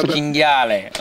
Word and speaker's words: cinghiale: It's cinghiale.